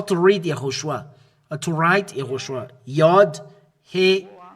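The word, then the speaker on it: יההושֻׁע: This is how to read Yahushua. To write Yahushua. Yod, He, Hu, Shin, and Ah. This is Joshua. This is Joshua, Yahushua, Yahushua, or Joshua. This is Josué, and as well Yahushua.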